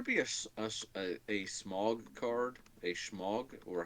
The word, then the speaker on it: Smaug: A Schmog? Or how do you pronounce his name? Smaug, and there's Smog.